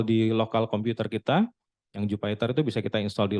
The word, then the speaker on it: Jupyter: Ada namanya Jupyter sebetulnya ya bacanya bukan Jupiter, Jupyter Notebook.